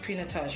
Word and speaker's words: Pinotage: It's pronounced Pinotage, right?